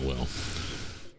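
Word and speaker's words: Wyll: Why his name is spelled W-Y-L. Okay. Okay. All right, Will.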